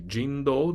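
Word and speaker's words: 神道: The earlier pronunciation could be Jindo, not Shinto.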